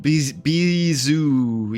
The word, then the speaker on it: Beezu: Beezu, yes, that's how it's pronounced.